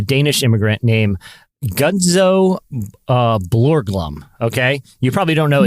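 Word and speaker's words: Borglum: And then, uh, Borglham.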